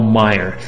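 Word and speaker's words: Maier: brief email from Dr Paul L Meyer that's spelled m a i e r and you can check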